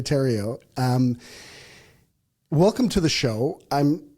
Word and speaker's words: Theriault: Not spelt at all like Theriault, but phonetically, Theriault.